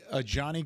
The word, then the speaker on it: Johnny: Johnny Cornelius is how you say the first name, by the way.